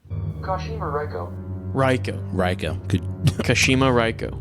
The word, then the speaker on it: Kashima Reiko: Pronunciation. Kashima Reiko. Raiko. Good. Kashima Raiko. Kashima Raiko.